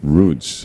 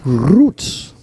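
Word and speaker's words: Ruiz: Yeah, Bill, we've got the correct pronunciation, if I could say it right. Roots, R-U-T-Z. Bill corrected himself. Roots. You got to get the tongue roll going in there.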